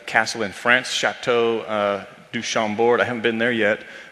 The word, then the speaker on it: Chambord: I love except I hate when people pronounce the final D's on French words like that. Oh, Like, you know, just enough French to say chateau, but Chambord. oof.